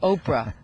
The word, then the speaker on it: Oprah: person was you said oprah how do you spell that which i loved and i actually spelled it i said o-p-r-a the angel and the age is silent and you were saying